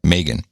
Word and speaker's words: Megyn Kelly: I've learned how to pronounce it. Not Megan. Megyn.